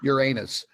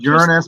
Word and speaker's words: Uranus: This is the shot from Uranus. Actually, it's pronounced Uranus, but that's funny because we can always say, it's always swamp gas coming out of Uranus.